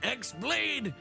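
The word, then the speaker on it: χ-blade: Yeah, it means the X-Blade. It's just pronounced like Keyblade, even though it's just one Keyblade.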